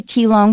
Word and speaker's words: Keelung: of handling it so we're going to say keyong here because that's the way it's spelled and that's probably the way most people would read it in the middle of an English article okay our first sentence